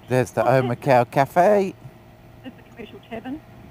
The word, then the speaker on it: Omakau: Is there a Maori pronunciation? Omaku? No, it'd be Omakau.